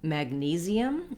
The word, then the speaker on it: magnesium: We have a letter A with the A vowel, but the mag syllable is not stressed. You can see here, this little line will show you that the knees syllable is stressed. And so when I'm saying calcium, I'm lengthening on that A. In magnesium, it almost doesn't even sound like an A. It's so short.